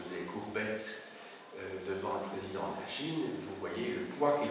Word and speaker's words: Xi: la présidence de la Chine euh du président actuel qui est Xi Jinchin. Oui. Le X ça se prononce pratiquement chi hein.